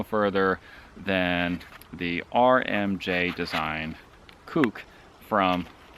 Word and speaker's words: Kuk: This is spelled K-U-K, and I'm told in New Zealand there's a wrong way of pronouncing this, but I think it's pronounced kook because it's a kukri.